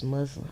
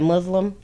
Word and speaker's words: muslin: Yes, muslin. I like muslin. Am I saying it right? Are you saying I'm saying it wrong? I think I said Muslim. Should be muslin.